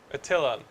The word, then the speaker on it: Attilan: Is it at, how do you say it? Attilan? Attilan. Attilan.